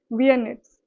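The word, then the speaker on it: vignettes: जो ये इसमें जी है ना, ये साइलेंट है। ओके? विनेट्स इस तरीके से बोलेंगे इसे वियनेट्स ओके तो अ सीरीज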